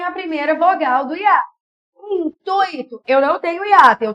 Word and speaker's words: intuito: Intuito. O I é rápido, ó. Intuito.